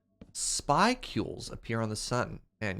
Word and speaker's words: spicule: The paper uses data from different satellites, and I'm using it to figure out the statistics of where events called spicules appear on the sun.